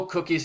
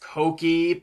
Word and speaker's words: Cokie: what cookie thinks continuity and yes I know cookies name is supposed to be pronounced Cokie but that makes you sound like a drug